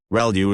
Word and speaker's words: ReLU: ReLU is how that is pronounced when that's the rectified linear unit that has to do with the activation function that's used.